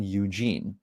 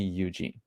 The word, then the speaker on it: Eugene: So it's pronounced the same way as a normal Eugene. All right. So if you ever get a chance to meet in the future, please mention, just call me Eugene.